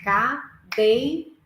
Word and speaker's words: cadeira: eu vou falar cadeira eu vou falar em três partes cadeira Qual que é a sílaba mais forte a segunda como que eu faço